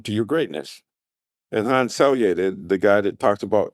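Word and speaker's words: Selye: And Han Sier, the guy that talks about they call him Selier, I I pronounce it sier.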